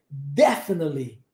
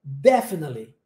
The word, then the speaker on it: definitely: Em inglês, a sílaba tônica mais forte, na maioria, isso não é regra 100% do tempo, mas na maioria das vezes é no início das palavras. Ok? Definitely. Definitely.